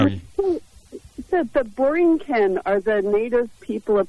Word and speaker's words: Borinquen: So Borinquen. there you go. Okay, that's how you pronounce it.